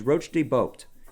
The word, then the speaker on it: Roche de Boeuf: Another pronunciation considered is Roche de Boeuf, meaning rocky point.